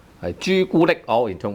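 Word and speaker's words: 朱古力: It's very common to use all tone 1s when we have derived words from English.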